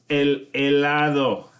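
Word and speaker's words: helado: don't think so okay a lie though everyone's favorite ice cream again silent H the e sound is the first one you hear and i lo creo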